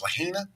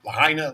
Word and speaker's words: Lahaina: time on the island uh yeah how's it pronounced Lahaina is how it's proud Lahaina Lahaina it's all the same to me um